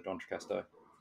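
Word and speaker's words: D'Entrecasteaux: So yeah, I think it's just the very cool nature of somewhere like the Dontracasto.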